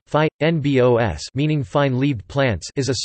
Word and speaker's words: fynbos: Fynbos, Afrikaans pronunciation, phi, nbos, meaning fine-leaved plants, is a small belt of